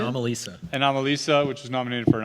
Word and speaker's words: Anomalisa: Anomalisa, which was nominated for an Oscar.